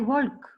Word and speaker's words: walk: why doesn't the L make a sound in the end? It's the way we pronounce it. Look, I'm going to go back to that slide. Check the word out. We don't say I talk, I could, I walk, I chalk. Can you hear it?